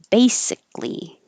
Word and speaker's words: basically: z pose clearly clearly basically don't have to say this k basic your tongue goes to the k position basic but not basically if you release the